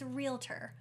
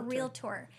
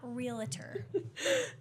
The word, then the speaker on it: realtor: See, I still want to put an extra syllable in there. I know. Let's just, for the masses, it's realtor or realtor, but not realtor.